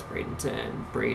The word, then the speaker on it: Bradenton: I believe that's Bradenton. Yes, I pronounced that right.